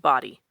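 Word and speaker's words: Bodie: Banks which is where it is it is pronounced body they had a note on that right specifically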